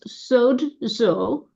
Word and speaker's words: sozo: Sozo అనగా sozo, which is a Greek word pronounced sodzo.